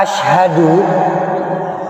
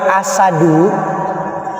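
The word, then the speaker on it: أشهد: Kalau asyhadu alif shin ha dal, ini yang tepat. Artinya saya bersaksi. Tapi kalau dibacanya kita agak ringankan asadu, maka jadinya singa. Pun kalau kita membaca asyadu benar shin tapi tidak ada hak di tengahnya, maka artinya lebih berat. Asyad.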